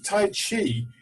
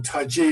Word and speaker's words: Tai Chi: So the term Tai Chi, or Tai Chi as it's sometimes pronounced, is somewhere in between really, is represented by this